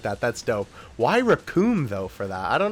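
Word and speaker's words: Recoome: Oh yeah, Raccoon. It rhymes with doom.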